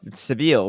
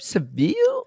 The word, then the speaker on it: Seville: Wait, is it Seville or Sevil? I thought it was. It's not the second one. You said it's it's Seville or Sevilla. Sevilla. Okay. So, one of those is like the English name and one of them is the Spanish name.